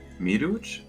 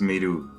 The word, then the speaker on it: Miru: Miruch? The J is silent. So it's just Miru.